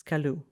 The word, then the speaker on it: Coolus: And the correct pronunciation is kaloo.